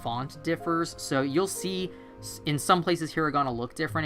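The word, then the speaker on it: い: The next one it teaches you is the letter I, which is pronounced like E, actually.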